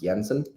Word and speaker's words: Jensen: So my last name is actually pronounced Yensen.